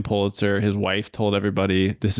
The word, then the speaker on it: Pulitzer: pronounced his own name Pulitzer his wife told everybody this is how he pronounced his name even though his family pronounced it piter but the Pitzer priz